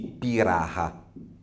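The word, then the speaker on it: Pirahã: particolare una popolazione anzi Bisognerebbe dire i pirata scritto Pira h a con l'accento circonflesso ora questa queste popolazioni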